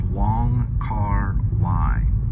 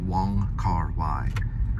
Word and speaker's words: Wong Kar-wai: It's spelled W-O-N-G, and then the middle name is K-A-R, and then W, I believe A-I, and it's pronounced Y, so Wong Kar-wai is what he goes by.